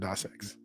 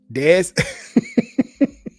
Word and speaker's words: Deus: Deus Ex or is it DOS X? Deus. He sounded like a little country twang there. Deus. Yeah, that's how you say it. Deus. Deus. It's like Dr. Zaius.